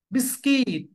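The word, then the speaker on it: biscuit: means D is silent letter ডিজাইলে so Wednesday বিস্কিট ইউ is silent hair বিস্কিট ইউ is silent here varsity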